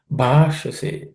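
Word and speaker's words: भाषसे: Bhashase. Bha is aspirated consonant. Sh is cerebral sh.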